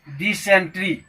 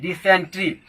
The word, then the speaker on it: dysentery: Next word है डिसेंट्री, DYSENTERY, डिसेंट्री। British pronunciation होता है डिसेंट्री, British pronunciation डिसेंट्री, डिसेंट्री, लेकिन अमेरिकन प्रोनाउंसिएशन डिसेंटरी होता है।